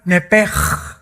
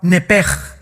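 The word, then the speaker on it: נפש: La palabra, la letra o las letras sh del hebreo se pronuncian en hebreo como J. Entonces se pronuncia nepej.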